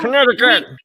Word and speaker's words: Connecticut: pronounce that? So Connecticut.